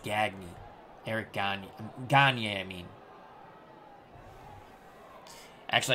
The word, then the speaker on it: Gagne: Eric Gagne.